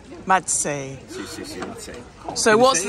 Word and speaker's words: Mazzei: Mazzei. Mazzei.